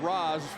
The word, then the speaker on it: Raz: It's spelled R-A-Z, but pronounced Roz, short for Razine.